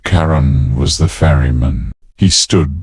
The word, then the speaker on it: Charon: Karen pronounced Karen was the fairyman.